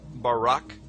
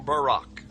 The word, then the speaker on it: Barak: brightness or a glittering the Hebrew word is Barak so lightning or a flash of light in Hebrew is pronounced Barak or Barack now consider this amazing